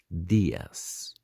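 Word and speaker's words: días: dias buenos dias so as you can see the eye on the dias has got a little accent so we'll have to be stressing that sound a bit more buenos diaz for good afternoon we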